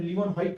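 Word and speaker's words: Leeuwenhoek: देखो, अगर आपको उसका प्रोनाउंसिएशन लीवनहॉक करोगे तो आपका स्पेलिंग करेक्ट आएगा।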